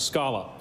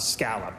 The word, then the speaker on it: scallop: Oh, and by the way, it's pronounced scallop, not scallop.